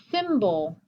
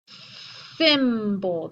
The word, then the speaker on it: symbol: Symbol. Symbol. That Y sounds like a symbol.